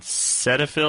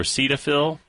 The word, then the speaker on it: Cetaphil: I should use have you tried something called Cetaphil or Cetaphil well that's a body cream right right it's an over-the-counter it's spelled c e t a p h i